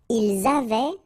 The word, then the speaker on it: ils avaient: Ils avaient, so look here, E-N-T, you write them, you don't pronounce them. So you get phonetically avait, exactly the same thing that we had here, here, and here. Okay, so it's exactly the same thing that you will pronounce.